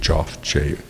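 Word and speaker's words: Joeff: One over here is of a boxer with a swollen eye by Joff Davis. Not Jeff Davis, you pronounce it Joff, J-O-E-F-F, who's the principal photographer for Creative Loafing.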